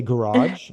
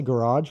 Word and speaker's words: garage: So some people say garage. I say garage, but my mom says garage Garage. because she thinks she's fancy. So she says Garage.